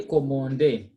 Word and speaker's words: commander: So we say commander. When we have got a, then n, we say on.